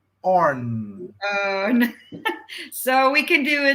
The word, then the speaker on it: Öhrn: Yeah, you can say Orn, but in Swedish you say Örn. Orn. Örn.